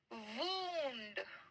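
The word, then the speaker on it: wound: गई है चोट को इंग्लिश में क्या कहेंगे वंड ठीक है चोट को क्या कहते है वंड ठीक है स्पेलिंग यही है स्पेलिंग यही है इसका प्रोनंसिएशन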